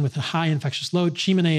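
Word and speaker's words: Tsimane: a high infectious load chimney is spelled t-s-i-m-a-n-e and you can see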